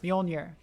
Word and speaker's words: Mjolnir: bjorner bjorn bjorner ah bjolnir there we go mjolnir that i think that's how you say it